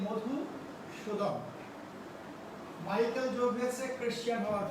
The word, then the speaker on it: মধুসূদন: অনেকেই আমরা মধুসূদন বলে ফেলি ভুল করে, খুব খেয়াল করতে হবে, অ্যাকচুয়ালি মধুসূদন।